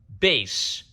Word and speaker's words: Bass: Bass, I think some people pronounce it Bass, but I've always pronounced it Bass.